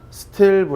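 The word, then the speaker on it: stilb: 라고 합니다 니트 두번째는 sb 라고스 구역 스텔 부 라고 읽어요 자 일반적으로 휘도 의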